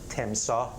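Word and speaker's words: تمساح: So I drew a crocodile, and the name of crocodile in Persian rhymes with the name of Misbah. So we say Temsah, and he's Misbah.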